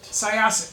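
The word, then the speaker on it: Syosset: go to the internet to learn how to pronounce the town soset saset saset saset U Long Island yes and you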